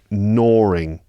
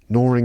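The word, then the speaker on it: gnawing: your life Goring away there's a g at the beginning of that word g n a w i n g Goring Goring away it looks like gno but it's pronounced Goring Goring away yeah if something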